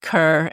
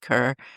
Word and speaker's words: Kerr: E R pronounced car, but I think everywhere else in the world it's pronounced Kerr. And I think in Texas, it's pronounced Kerr.